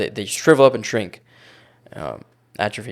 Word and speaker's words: atrophy: Atrophy is the correct way to say it. I'm saying it in a normie way so everyone can understand it, right?